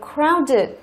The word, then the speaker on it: crowded: Rồi chúng ta có crowded, đúng không? Crowded cũng là tính từ 2 âm tiết, trọng âm rơi vào âm thứ nhất.